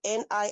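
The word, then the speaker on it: nisi: And according to Google, N I SI in this court terminology is basically pronounced NI like N E S E. Okay, so Ni.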